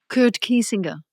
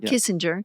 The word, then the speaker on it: Kiesinger: Kurt Kiesinger. Kurt Kiesinger. It's like it's not Kissinger.